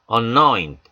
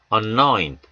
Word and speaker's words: anoint: anoint, O의 강사가 옴에 따라 A가 약화됩니다. 그리고 아까 말씀드렸듯이 N 다음에 오는 D나 T 사운드는 약화됩니다. 그래서 anoint 하지 않으시고요. anoint, 입 안에서만 처리한다 하시고 anoint, anoint, 묵음은 아닙니다. anoint 하지 마시고요. anoint. 역시 O 강세 때문에 앞에 A가 어에 가까운 소리가 납니다.